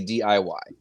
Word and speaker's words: DIY: You don't say, you don't spell out do it yourself. You say DIY.